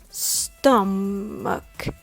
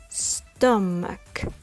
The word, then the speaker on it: stomach: letter k sound mcmic when you say stump you need to push out a little more air from your belly or the stomach area stomach stomach stomach don't overdo it though